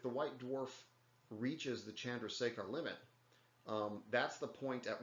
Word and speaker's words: Chandrasekhar: done uh but so it's it's again it's pronounced chandrasekhar but so if if the white dwarf reaches the chandrasekhar limit that's the point at which even though